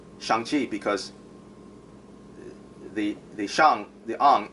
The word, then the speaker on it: Shang-Chi: not saying it correctly, because when we say Shang-Chi, we in English we kind of draw out the e, whereas in Chinese it's like chi, chi. It's like you just stop it.